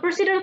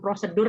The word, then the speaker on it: procedural: So procedural text. Please don't be mistaken to pronounce it. Procedural text, okay, bukan prosedur ya.